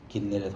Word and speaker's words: 긴네렛: 갈릴리 호수들을 히브리어로 발음하면 긴네렛 호수가 이렇게 됩니다.